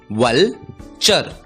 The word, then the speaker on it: vulture: हमने सीखा TURE का उच्चारण होता है चर और इसलिए इस शब्द का उच्चारण होगा वलचर, वलचर।